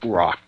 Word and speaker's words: Roy: his name was Patrick Rock and his last name was spelled ro y and it was pronounced wah Patrick walk he is